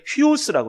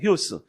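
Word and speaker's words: υἱός: 네 번째 있는 글자가 저게 휘오스라고 그래요. 휘오스. 이게 쫙 찍혀 있는 게 뭐냐면 이게 액센트예요. 액센트. 그래서 우 발음이 휘 발음이 돼요.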